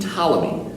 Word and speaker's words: Ptolemy: This was also made popular by a famous scientist from Egypt and Greece named Ptolemy. That's right, the P is silent. Ptolemy was considered one of